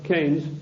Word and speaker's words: Keynes: or keynes he said keynes was a better word because it arrived with it rhymes with brains and this is the